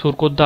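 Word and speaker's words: Surkotada: আমরা পড়েছি আগের দিন যে আমাদের সুরকোদ্দা আবিষ্কার করেন জে.পি. যোশী 1972-এ। দেখ, সুরকোদ্দা হলো বা সারকোদ্দা, এটা উচ্চারণ অনেক সময় অনেক রকম হয়, নিজেদের কিন্তু বুঝতে হবে।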